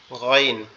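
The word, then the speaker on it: غ: এটা হচ্ছে আমাদের কন্ঠনালীর একবার শেষ ভাগ মানে মাথার সাথে যে অংশটা লেগে আছে এই অংশ থেকে উচ্চারিত হবে মনে হবে হরফের উচ্চারণটা আমাদের গালের মধ্যে থেকে আসতেছে আওয়াজটা আমাদের গালের ভিতর থেকে আসতেছে এরকম মনে হবেন যেমন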